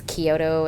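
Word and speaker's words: Chiodo: for the longest time I was pronouncing it with the CH so like chiota brothers and then they said their own name and it's Kyoto and I was like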